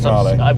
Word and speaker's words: Mahle: How do you spell it? It's Marle.